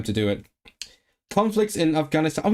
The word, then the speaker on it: Affganistan: Conflicts in Afghanistan.